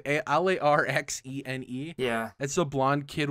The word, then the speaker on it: Larxene: Larzine? I don't know how to say it. Larxene.